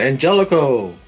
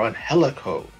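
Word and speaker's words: Angélico: know go for the championship now this one angelico or on helico you want to be specifically pronounced the mexican word of name right the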